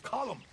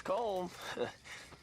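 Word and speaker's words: Colm: cold calm it's column in ireland we say column well uh he likes comb he's american he's oh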